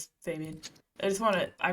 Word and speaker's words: Fabian: Fabian. Yes. I pronounce his name Fabian very intentionally because that's how Australians say his name and it's set in Australia.